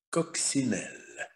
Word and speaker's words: coccinelle: En cahier, le calendrier, en écolier, une écolière, une coccinelle. Это буква C стоит перед I, и одна из тех трех букв, перед которыми буква C произносится как звук С.